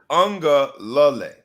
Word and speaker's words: Uiagalelei: But it is actually pronounced Uiagalelei. It's messed up, man. I gotta go back to the ghetto. I can't read. Uiagalelei is how you say his name. Uiagalelei. It does sound kind of like ukulele.